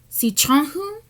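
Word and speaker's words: Sičháŋǧu: So how to pronounce his, it's Sichanhu. It's more of like the throaty, like the French thing, and I just stood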